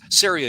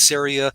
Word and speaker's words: CERIA: it's like no it's syria and you show them the can and you say it's syria rhymes with area and so they say